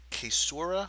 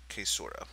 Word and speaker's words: caesura: Going down the line, we have the, I'm not 100% sure how to pronounce this first one, the caesura, I believe?